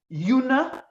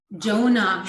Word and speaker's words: Jonah: so the main character do we say yuna is that how you would pronounce his name in sweden jonah we say jonah donut it's the same name as in the bible yeah okay prophet in